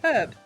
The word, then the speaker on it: herb: I can't answer that without heavily doxing myself, but we don't pronounce the H in herb. No. Chimken doesn't pronounce the H in herb because he's a fucking What Prune. say it? What say it? herb.